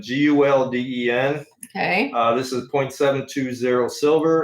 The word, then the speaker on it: Gulden: I believe it's pronounced golden, Gulden.